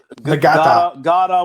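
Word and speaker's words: Ngata: But everybody says that Justin Ross, what's it, Frank Ladson and Joseph Gata with a silent N is going to be just fine.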